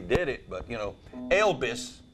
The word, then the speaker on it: Elvis: But, you know, Elvis, we pronounce that E-L-B-I-S where I'm from.